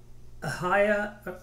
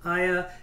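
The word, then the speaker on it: Aiah: the sons of zivian ahaya i mispronounced that one aya and anna he is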